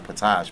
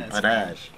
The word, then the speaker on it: Padash: your name padash padash I've been saying John patach but it's John padash you know he has